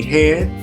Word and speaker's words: H&L: Um, bas basically phonetically, if you look at it, it's going to be hand H A N D and then L associates.